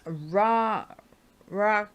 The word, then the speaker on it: Rakia: It looks like Rikia to me, but it's Ra.